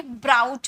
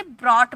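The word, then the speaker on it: brought: अब यहां पर इसे बहुत कोई ब्राउट पढ़ते हैं। है ना? अगर आप इसका प्रोनाउंसिएशन अगर आप नहीं जानोगे तो आप फर्स्ट बार इसे प्रोनाउंस करोगे तो आप इसे ब्रॉट पढ़ोगे। तो ब्रॉट नहीं बोला जाता। इसे ब्रॉट बोला जाता है।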